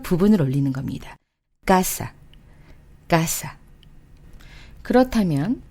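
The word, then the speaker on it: casa: 지금 말씀드린 이 글자들로 끝날 경우에는 맨 뒤에서 두 번째 모음을 올려서 읽어주시는 거예요. 자, 이해되셨나요? 자, 그러면 아, 에, 이, 오, 우, n, s로 끝나는 어휘를 한번 보면은요. 예를 들어서 우리가 알고 있는 까사, 아로 끝났죠?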